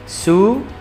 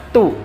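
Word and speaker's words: ツ: Bukan dibaca tu, tapi dibaca su, yang huruf su ini ya. Jadi bukan dibaca tu, tapi su, T S U di sini.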